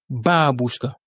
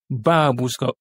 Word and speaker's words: бабушка: Ici, l'accent tonique est mis sur le premier A. Babuska. Babuska. Vous voyez comment on accentue ?